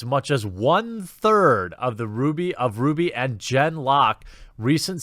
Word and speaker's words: RWBY: every season rwr wife I believe it's pronounced Ruby and Jen locket about